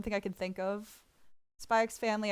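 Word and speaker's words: Spy × Family: Spy X Family, I do pronounce the X.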